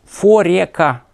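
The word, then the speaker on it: Foreca: Форека. Фореца пишется.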